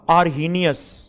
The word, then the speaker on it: Arrhenius: आर्हेनियस, हे silent कर देते हैं हिंदी में, आर्हेनियस सिद्धांत। या आपको लिखना हो पूरा तो पूरा भी लिख सकते हो, आर्हेनियस, आर्हेनियस या आर्हेनियस, एच साइलेंट हो जाता है एक्सेंट में, आर्हेनियस थ्योरी, आर्हेनियस सिद्धांत।